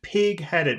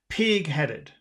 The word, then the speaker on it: pigheaded: you're a coward but if you say someone is pigheaded when you have two words together like that you always put the emphasis on the first word Pig not always almost always pig headed pig headed but I am not